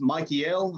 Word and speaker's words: Michael: They talk and how much they feared Michael, and it's pronounced Michael. I think it says it has 3 syllables.